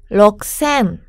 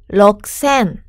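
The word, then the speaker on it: 六千: 이라고 발음하는 것 똑같은데요 앞에 있는 글자를 쪼끔만 1 쓰 로 바꿔서 발음 하는 거예요 잘만 우선 발음 들어볼까요 럭 쌤 럭 쎔 하 센 하 센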